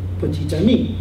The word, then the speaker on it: petit ami: turns out to be petit ami. You pronounce the T.